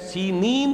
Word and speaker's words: سینین: صحرائے سینا، یہ ہے، سینین اس کا تلفظ ہے، یہ جمع کا صیغہ